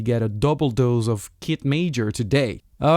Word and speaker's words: Kit Major: Hi everybody, this is and you're on my podcast Hanging Out Sunset, and today I'm with the artist Kit Major. Did I pronounce that correctly?